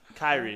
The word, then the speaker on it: Kyrie: Keurig They grind Robinson. him up? Kyrie, excuse me.